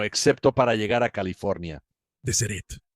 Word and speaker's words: Deseret: O sea, su plan original para Deseret era bastante grande y no se pronuncia de Sereret, se pronuncia de Sereret.